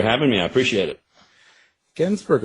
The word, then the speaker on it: Gensburger: Gensburger, is that like cheeseburger? It's like cheeseburger.